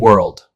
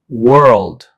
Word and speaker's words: world: World. World. Although they look similar, the pronunciation is different. Word has one syllable pronounced word. World also has one syllable but includes an extra L sound pronounced world.